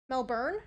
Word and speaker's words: Melbourne: would say Melbourne like Mel I'd say Melbourne melburn yeah yeah like I would never say it